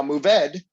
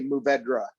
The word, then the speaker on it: Mourvèdre: Now, Mourvèdre is, a lot of people say Mourvèdre, right? So it ends with a DRE at the end of it, but it's actually pronounced Mourvèdre.